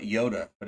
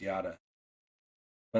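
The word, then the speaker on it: Yotta: always thought that too a lot of people call it yoda but it is pronounced yada but i don't blame people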